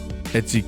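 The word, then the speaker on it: 越: Echi can be pronounced Koshi, don't worry about it.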